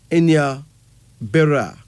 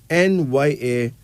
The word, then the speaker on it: Nyabera: That name is spelled Nyabera, and it's pronounced Enya Bera. Nyabera.